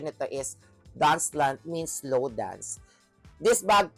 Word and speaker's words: Danse Lente: And this is ang brand nito is ah dancelant or ang spelling is Dancelente but ang pronunciation nito is dancelant means slow dance.